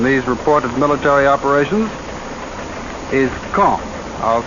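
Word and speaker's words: Caen: of gravity in these reported military operations is kong i'll spell that c-a-e-n the big city at the base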